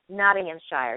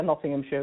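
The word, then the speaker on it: Nottinghamshire: I wasn't exactly sure how to pronounce naam Shire did I pronounce that correctly yes that's correct Notting yes um that's how my friends pronounced it so yeah Nottingham sure that's that's correct okay so uh what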